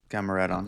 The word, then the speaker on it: Gamaredon: Yeah, Gamaredon.